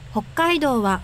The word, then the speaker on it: Hokkaido: is that one oh it's a long o and said hokkaido yay we are done